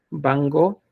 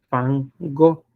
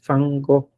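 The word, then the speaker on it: Van Gogh: weiden Cuando vean Ustedes bango deben decir fango porque se pronuncia con f no con b entonces toda la vida lo hemos pronunciado mal eso del bango cuando es fango Vincent fango porquea esta palabra se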